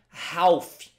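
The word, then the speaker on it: half: metades que são tios Lembrando que metade inglês você não pronuncia Ralf aquele L tchau não vai te pronunciar então é dividir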